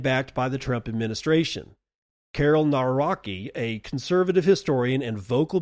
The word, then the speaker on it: Karol Nawrocki: On to Poland, where they have elected the first openly pro-crypto president, Karol Nawrocki, I think is how you pronounce it, Karol Nawrocki, amid global crypto shift.